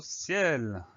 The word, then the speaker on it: ciel: Il s'écrit exactement comme il se prononce. C-I-E-L. Le son est de ciel. On va avoir un E tout seul, sans accent. Même si avec une seule lettre derrière. C'est bizarre, mais le français est ainsi fait que certaines lettres se prononcent d'une drôle de façon parfois.